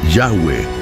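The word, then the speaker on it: Yahweh: Además, aprendimos que el nombre que Dios le dio a Israel por medio de Moisés es Y Hu, cual pronunciación es Yahweeh y que traducido al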